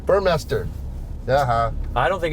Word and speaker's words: Burmester: it's it's it's it's master mes ter is not mei st ER really yeah I've been saying everybody knows how to say it as if he said my sound make a comment I think it's burn motor oh you're right yes M there's right up there your master Burmester uh-huh I don't think